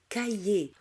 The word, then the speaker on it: cahiers: الH لا ينطق. Des cahiers.